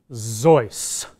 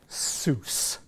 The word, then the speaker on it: Seuss: ran the circus by dr. Joyce not Seuss he hated people calling him dr. Seuss his name was Joyce